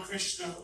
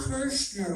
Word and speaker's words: Kirshner: I kind of remember the Don Krishna rock concert. The what? Don Krishna rock concert. I don't. Don Kirshner rock yes, concert.